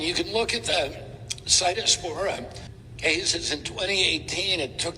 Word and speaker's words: Cyclospora: It's pronounced Cyclospora and RFK Jr.'s lying to you about how well he is doing as Health and Human Services Secretary.